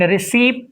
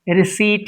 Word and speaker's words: receipt: just have to and receipt is wrong receipt is right P is silent and it's raspberry it's